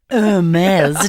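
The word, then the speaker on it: Hermès: slide fantastic looks great heres drop the H the H is silent but not I just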